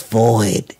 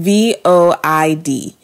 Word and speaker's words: void: the women did it's void is void and so I pronounced the word void wrong vo I D made it two syllables when it's a one syllable word I pronounced it void